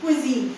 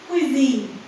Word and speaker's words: cuisine: होता है ना, क्वीन QUEEN का क्वीन, वो वही वाला क्वीन यहाँ पे भी आप इस्तेमाल करेंगे. क्विजीन, ठीक है, क्विजीन क्विजीन.